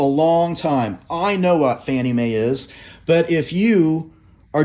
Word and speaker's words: Fannie Mae: We pronounce FNMA Fannie Mae.